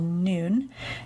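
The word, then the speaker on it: Nuun: morning of the cleanse called noon it's spelled in uun and a help of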